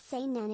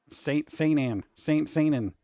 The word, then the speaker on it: Seinen: Seinen is how you pronounce it, and it's aimed at young males. Seinen.